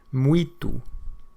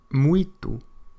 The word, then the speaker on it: muito: Muito. Muito.